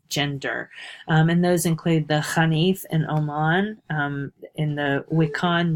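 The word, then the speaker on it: Xanith: So as you read the article about the Hanif, and that's it's an unfortunate transliteration with that X, but it's pronounced like a KH, the Hanif.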